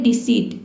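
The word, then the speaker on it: deceit: देखिए डी ई का हो जाएगा डी, सी का हो जाएगा सौ, और ई आई का हो जाएगा ई, ठीक है, ई।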